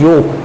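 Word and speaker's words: yolk: है वहीं ऊपर डिटेल्स योग जिसको हम यहां पर है जो है वह साइलेंट होता है इसलिए योग कहते हैं और यह योग जो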